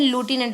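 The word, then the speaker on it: lieutenant: तो जो लेफ्टिनेंट थे, इसकी प्रोनाउंसिएशन लूटिनेंट भी बोलते हैं, लूटिनेंट गवर्नर थे, तो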